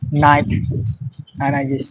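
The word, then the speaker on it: knight: নো নো কে এন ওড নো দেখটা পুরোপুরিভাবে silent হয়ে থাকে নাইট নাইট ওয়ারড আর এখানে ডটা সাইলেন্ট থাকে ডবটা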